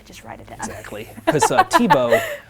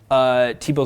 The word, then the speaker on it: Thibeault: with it on there Tebow Tebow is very French and the H is silent so a lot of